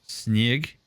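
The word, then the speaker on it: снег: to share with chat the russian word for snow which is pronounced like snig which sounds like snug but is the best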